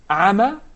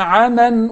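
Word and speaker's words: عمى: If I stop at the word عَمَى, then I will do مَدْ الْعِوَضْ. And I will prolong الْأَلِفْ الْمَقْصُورَةِ to حَرَكَةٍ. Okay? Yes. But if I connect it, then the ruling will be إِظْهَار حَقِيقِي. And I will say, وَهُوَ عَلَيْهِمْ عَمَنْ أُولَٰئِكَ يُنَادَوْنَ مِن مَكَانٍ بَعِيدٍ.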